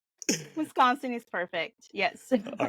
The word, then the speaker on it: Wisconsin: of Wisconsin they don't really know how to pronounce it some people say Wisconsin Wisconsin Wisconsin is perfect yes all right good good good